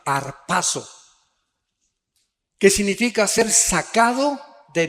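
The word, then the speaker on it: ἁρπάζω: Es la palabra griega arpazo con z, arpazo, que significa ser sacado de medio súbitamente o con fuerza.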